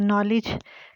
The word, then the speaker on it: knowledge: उससे आगे है नॉलेज, के जो है साइलेंट है इसमें, नॉलेज का मतलब जानना, मालूमात हासिल करना।